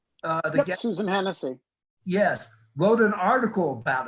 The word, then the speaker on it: Hennessy: You and Hennessy, is that how you pronounce her name? Yep, Susan Hennessy.